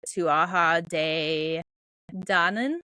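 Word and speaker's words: Tuatha Dé Danann: where the fairy Folk or as they're pronounced the tuaha de Dan to Aha de Dan um not pronounced not uh spelled that way um are believed to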